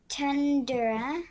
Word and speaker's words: tundra: Tundra. Tundra. But we say tundra since it's an unstressed syllable.